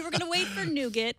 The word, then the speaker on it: Nougat: So, we were going to wait for Nougat, pronounced Nougat, uh, which is allegedly coming out maybe this week, maybe six.